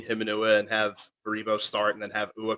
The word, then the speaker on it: Baribo: At this point, I don't even remember how to pronounce his name. It's Baribo, it's Ty Baribo, yeah.